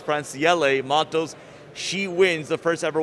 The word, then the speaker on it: Francielle Mattos: I know we've all been mispronouncing it all weekend long. It's Franciele Matos.